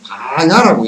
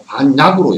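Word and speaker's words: 반야: 요걸 읽을 때 이제 요거는 음역으로 프라자냐를 갖다 쓴 거기 때문에 바냐라고 읽어. 그죠? 프라자냐 할 때 프라자냐 할 때 야자로 읽는다고. 근데 유림들 한문은 요걸 갖다 반약으로 읽어. 약으로 읽는. 용어 자체도 반약 그런다. 영치산 같은 경우도 영축산하고 영치산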